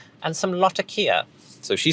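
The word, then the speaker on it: Latakia: the new underground 8692 clearly the gold standard for how to pronounce lakia is the lady running the tea shop in the basil wrath bone Sherlock Holmes film Dressed to Kill she says lakia if this doesn't settle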